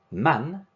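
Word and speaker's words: مَن: Man, corresponding to who or whom, and note that there is a fatha on man.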